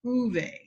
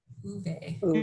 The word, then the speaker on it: Ove: Actually, I think they call him Uwe. Uwe. And that, yeah, I think I had the pronunciation wrong.